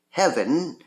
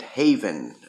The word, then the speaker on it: Heaven: deal games and Homebrew Heaven which I must apologize my friend Michael Thomason because I keep mispronouncing it Haven or at least I have